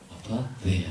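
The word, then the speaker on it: ἀπάθεια: 네, TH 발음을 제가 좀 아파테야 이렇게 하면서 하고 있습니다. 여러분, 그래서 여기서 에퍼시라는 말 들어보셨나요? A-P-H-T-A-Y. 뭐냐면 냉정이라는 뜻이 에퍼시. 영어 동사인데, 영어 명사인데, 바로 이 아파데이아에서 나온 말이에요.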